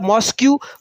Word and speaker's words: mosque: MOS Q in writing in typing it's mo Q you are typing the moscq but you are reading the mosque why because last u and e word is silent understand I think you